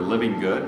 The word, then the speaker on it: Livengood: i can be well my name's kind of unique so if you can remember living good that's how most people pronounce my last name d is a dan